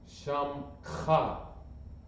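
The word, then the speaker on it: שמך: Shamcha. That's a kha. A kha is pronounced gutturally. Shamcha.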